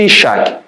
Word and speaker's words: Isaac: que ri de incredulidade Isaac que o nome pronuncia-se Isac significa ele ri qual era o chamado